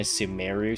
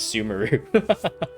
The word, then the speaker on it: Sumeru: new powers also uh pymon is pronouncing a sumeru city so I'm gonna pronounce it that too I've been pronouncing it sumaru even if we can't